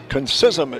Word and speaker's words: Concisum: Concisum is the way we're going to pronounce his name, the right-hander.